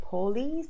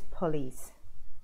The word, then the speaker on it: police: e correct pronunciations police people always say Pauly's or police its police the police are here